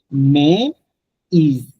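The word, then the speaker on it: Maïs: মানে হচ্ছে বাট, কিন্তু মে বাট। আবার যখন থ্রেমাটা চলে আসছে MAIS এর উপরে, তখন আপনাকে পুরোটা উচ্চারণ করতে হবে মে ইজ, মে ইজ। আগে ছিল জাস্ট মে, MAI মে, উচ্চারণটা ছিল মে, লাস্টের ওয়ার্ডটা আপনি বাদ দিয়ে দিয়েছেন, এস বাদ দিয়ে দিয়েছেন, মে সিম্পলি। বাট যখন থ্রেমা আসতেছে তখন কিন্তু আপনাকে প্রত্যেকটা অ্যালফাবেটকে থ্রেমার আগের পরে সবগুলোকে আপনাকে উচ্চারণ করতে হবে। MA থ্রেমা ই এন্ড S, that ইজ মেজ মানে হচ্ছে কম।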